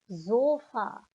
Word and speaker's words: Sofa: And we come to another word that has been taken from the English language, but pronounced das Sofa, die Sofas with an S.